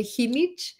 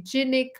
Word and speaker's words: Jinich: not many people do because in mexico we say hindi and here in the us and most people say genic or hunik and and i was